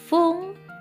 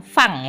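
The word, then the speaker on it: ふん: itu ada yang bisa pakai fung dan pung, bukan fang ya. Fang beda. Pelafalan kalau bahasa Jepang itu apa yang ditulis itu yang diucapkan, ya. Beda ya. Kalau bahasa Inggris mungkin fang ya, tapi kalau bahasa Jepang itu fung tetap karena penulisannya fun. Jadi fung.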